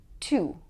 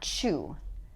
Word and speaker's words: two: Two, two, two, not chew, two.